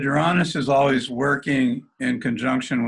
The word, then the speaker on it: Uranus: Uranus, I pronounce it Uranus.